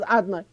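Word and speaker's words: Adonai: In other words, the Shem of Yud Kei Vav Kei is pronounced as Adnai, but not to say it as the Kohen Gadol would say it in Yom Kippur.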